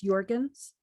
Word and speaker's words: Jorgens: It's Jorgens Jorgens. with a J.